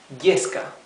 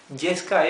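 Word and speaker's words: yesca: So here, letter Y is followed by a vowel in the same word, okay? So it's y, yo, yema, yeska. Yeska is tinder, to light a fire, okay? Yeska. Okay, so it's not this E sound. It's not yema, it's yema. It's not yeska, it's yeska.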